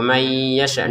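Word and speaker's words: مَنْ يَشَاءُ: Nah, di sini wallahu 2 harokat, yarzuqu may yasha, nun sukun bertemu ya dibaca ya. Caranya nun sukun masukin ke ya-nya sehingga cara bacanya may. Disertai dengungan may yasha.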